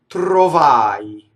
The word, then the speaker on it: trovai: Trovai. It's the same thing as ttardai, right? It's a-i. Notice the rolled R in trovai. And notice the closed O because the accent is on the A vowel. The O is in the unaccented position.